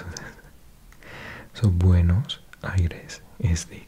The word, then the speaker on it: Buenos Aires: So Buenos Aires is the correct pronunciation. It does mean good air or clean air. Literally good airs, but yeah, Buenos Aires.